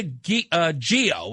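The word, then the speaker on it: Ghio: Christina Gio, I guess you pronounce her name, G-H-I-O, you and I saw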